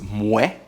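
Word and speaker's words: Moët: It's Moet, without the T, and Chandon. However, when you pronounce them in a row, it's called Moet Et Chandon.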